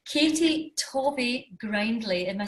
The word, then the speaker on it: Tovey-Grindlay: let me just say your entire name, Katie Tovey-Grindlay. Am I saying that okay? Yeah. Almost. Tell me, how do I pronounce it properly? I'm so bad at pronunciation. It's names. Tovey-Grindlay. So Katie Tovey-Grindlay.